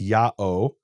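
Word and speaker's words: ΙΑΩ: name is written Yota Alpha Omega, which is pronounced Ya'o.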